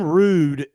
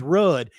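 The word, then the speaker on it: Ruud: It's actually Rude. It's pronounced Rude. Yeah. And a lot of people will fight you and say, no, it's not. It's Rudd.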